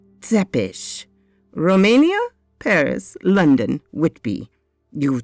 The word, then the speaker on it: Tepes: very long time v tepes professional insanguinator remember it's pronounced zepesh romania paris london whitby